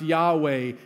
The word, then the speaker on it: Yahweh: he is sent you that hebrew word for he is pronounced yahweh became the name of